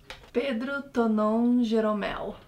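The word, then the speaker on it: Pedro Tonon Geromel: Pedro Tonon Jeromel.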